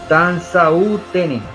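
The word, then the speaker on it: Tinzaouaten: de la localidad de Tanzautin, así se pronuncia, pero es escrito, etc.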